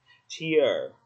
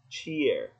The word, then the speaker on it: cheer: Cheer. Cheer. Mình không đọc là cheese.